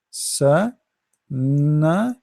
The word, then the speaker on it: سنة: Start with letter by letter. Sa, na, san, and then ta. This is ta marbuta, ta light ta. So sana. Remember the ta, we don't say sanat.